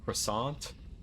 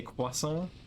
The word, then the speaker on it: croissant: that you you just don't pronounce the t when it's at the end of a french word i do have to